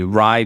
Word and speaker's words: Rai: actually by this one Community Rye people the it's spelled like Rai um arrived people uh